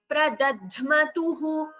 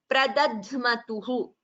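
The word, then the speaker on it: प्रदध्मतुः: Look at this word, Pradadhmatuhu, the Alpaprana, followed by the Mahaprana. So that should be very clearly differentiated. Pradadhmatuhu, first is an Alpaprana, second Mahaprana, this is a Sanyuktakshara.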